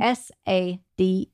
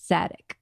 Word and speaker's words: Sadek: Well, let's just spell it out for everyone. S-A-D-E-K. Sadek.